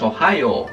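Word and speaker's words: おはよう: Ohio, para que veáis yo incluso el profesor y me acabo de saltar aquí un u porque es Ohio, es largo.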